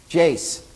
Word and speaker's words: Jase: yeah jay-j excuse me Jase I'm always pronouncing the last letter of your name I don't know why